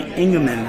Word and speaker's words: Engeman: We're at Standford's restaurant, and with me right now is Engeman. Did I pronounce that correctly?